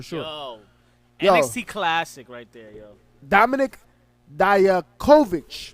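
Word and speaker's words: Dominik Dijakovic: the week for sure oh yeah see classic Dominic Dyer Kovac right that's how you say it versus chiefly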